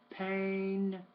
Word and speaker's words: pain: These are tough for you, but main, men, pain, pen. You're still doing that same song. I know that it's spelled AI, but it's still A, main, pain.